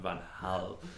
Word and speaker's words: Van Gaal: I've been watching too much matches of the day and hearing Louis van Gaal. That annoys me. There's a G in it.